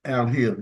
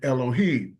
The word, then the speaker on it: Elohim: The word for God is Al-Him. Al-Him. It is pronounced Al-Him. You'll hear brothers saying Elohim. The E does not exist, nor does the letter I.